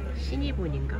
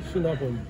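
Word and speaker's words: Cinnabon: 시니본인가 뭐예요? 뭐라고 읽어? 시나본.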